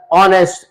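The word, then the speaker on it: honest: साथ एच मिले और एच अपनी आवाज खो दे अलिफ मत की साउंड डिलीवर करें और उसके बाद हम जब प्रोनाउंस करें तो अलिफ मत की साउंड से करें ऑनर ऑनेस्ट आवर जैसे मिसाल दी इसके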